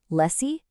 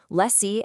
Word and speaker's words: lessee: Lessie and lesser.